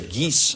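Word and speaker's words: Guise: and this is the geese family the geese family. And if you want to know how that's spelled, it's gu i s e. It's French here, not geese like ge e s e.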